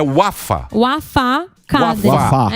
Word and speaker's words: Wafá: Mas é o Wafa. Tem acento. Isso, Wafa, tem acento. Então, Tem se acento. você for pronunciar, é Wafa Cadre.